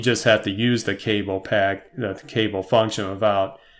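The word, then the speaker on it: kable: has developed a function called cable, and that's spelled with a K instead of like a C, if you're thinking cable is in like a wire or something.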